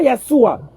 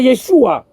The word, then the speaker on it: Yeshua: C'est pas Yeshua, c'est Yeshua. Et puis tu répètes encore comme si tu es un savant.